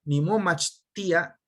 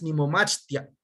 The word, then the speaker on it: nimomachtia: Tenemos Chile, etl, istatl, sal, ejecatl, cali, casa, wali, bien o bueno, elotl, nimomachtia, estudio, nimomachtia, no es nimomachtia, es nimomachtia, son 2 sílabas, nimomachtia, ninemi, vivo, ostli,